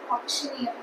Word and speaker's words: auctioneer: The first set of words that we are going through is the words ending with eer and the e rer is pronounced as ear. Okay. So auctioneer auctioneer domin commander commander commander engineer engineer engineer engineer.